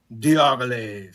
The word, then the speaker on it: Diaghilev: Diaghilev.